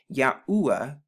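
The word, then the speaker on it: יהוה: know this makes the y sound this makes the a h sound this makes the oo sound and this makes the a h sound so when you put it together you get ya like right here these two letters is ya or ya so ya so when you put it together you get yahuwah now there's something very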